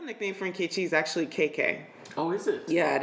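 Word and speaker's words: Keke: And it's so funny because I see that, and it's actually, it's actually KK. Yeah, really? yeah. And because it's spelled the same way, K-E-K-E.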